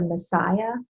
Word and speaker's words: Masaya: For children, I particularly like the Messiah products, which is not spelled Messiah, it's spelled Masaya, Messiah oils.